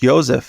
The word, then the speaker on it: Josef: And her father, Joseph, or Josef, because this is in Germany, Austria, Germany, it's pronounced Josef, so I'll call him Joseph anyway.